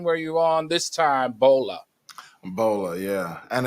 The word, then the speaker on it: Bola: Please take a moment and welcome Ola and Bolo Osundario. What's going on? Can you please say his name better? Hello. You said Bolo. Oh, no, I did not. I said Bola. Ola and Bola.